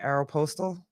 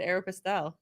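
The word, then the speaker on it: Aeropostale: How do you say it? Aeropostal. Oh, I always said Aeropastel.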